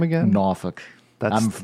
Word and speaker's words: Norfolk: I grew up in Norfolk Virginia in a suburban neighborhood and with a lot of kids that lived on the block and pronounce that name again Norfolk but I'm that's the native pronunciation offic take more geography